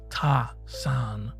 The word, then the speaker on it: Tassan: One illustration of this will be a playback for a new soap that Tassan, whose name is pronounced Ta-san, has just introduced to the general public.